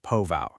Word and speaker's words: POV: Doctors started seeing patients with this strange condition they named POV pronounced po-vow.